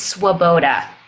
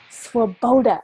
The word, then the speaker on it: Swoboda: you say your name the last name is Swoboda Swoboda okay it's a hard one it's okay it is spelled well wo be Oda it's it's check